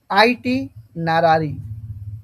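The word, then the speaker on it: itinerary: মধ্যে লিখা থাকে না তো ওটাকে বলা হয় আইটি নারি কি বলা হয় দেখতো স্পেলিংটা প্রনান্সিয়েশনটা করতে পারো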